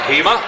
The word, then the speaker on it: Hema: The name is spelled H-E-M-A. The ground announcer, he called him Hema. I will say his name's Hema.